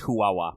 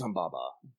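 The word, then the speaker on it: Huwawa: for they use the I think the pronunciation they officially use is huawa but it's yeah it's that one I always use humbaba but like that's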